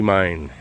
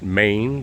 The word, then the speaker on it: Mine: And my father's sister married Andy Mine. Some pronounce it Maine, but it's uh we always did mine.